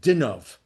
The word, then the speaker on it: Dinov: And he moved to Munkatch from a city in Poland called Dinov.